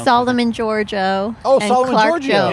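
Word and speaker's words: Solomon Georgio: So Simon DeGrorio. or whatever the hell, how to pronounce it. Solomon Giorgio.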